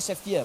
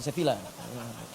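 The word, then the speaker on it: Sevilla: Eh, bacanya Sefia bukan Sefila. Sefia ya bacanya Sefia ya.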